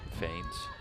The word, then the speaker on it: feign: Is that how you actually say that term, feigns? No, it's a Feigns. soccer term. Yeah. Because isn't it spelled with a T? No, it's F-E-I-G-N. Oh. Feign.